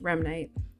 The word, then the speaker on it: Remnite: it's pronounced only as remite its General meaning is tied to the term REM rapid eye movement and the word Knight as slay for night